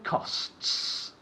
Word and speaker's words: costs: Right. S at the end.